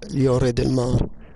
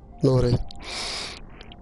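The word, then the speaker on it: Lloret de Mar: Do you pronounce it Antonella or Antonella, looking like Yore del Mar? You know, it takes to L, but you say Yore. Yore, not Lore.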